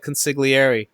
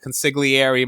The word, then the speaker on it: consigliere: Does Sonny pronounce the G when he's talking to Tom? I think the Don was the only one that pronounced the G, which makes no sense, because he's Italian, so he should say it the right way.